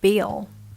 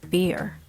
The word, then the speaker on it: bill: finished with your meal you should say bill bill bill in britain right you shouldn't say beer beer beer is something we drink bill is czech when